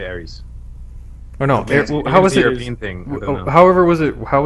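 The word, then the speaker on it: Aerith: I say I say Aries. Oh, no. However, was it How was it written? It was Aerys. It's Aris in F7. Yeah, Arith is how it's spelled. It's supposed to be Aith.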